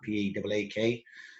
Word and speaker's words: Paak: And Anderson, I don't ever pronounce his second name, Park, P-A-A-K.